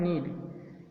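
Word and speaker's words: knead: और नेक्स्ट हमारा है नीड, KNED। नीड मीन्स क्या होता है? यहाँ भी के साइलेंट है, यहाँ क्या इसको पढ़ते हैं? नीड।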